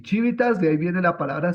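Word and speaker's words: civitas: y polis significa ciudad en latín se dice chivitas solamente se escribe con la no la chivita no pero pero sí se dice así pero pero no se escribe la H sino chivit solamente la c la i la v la i y t y a s chivitas entonces ahí estaría la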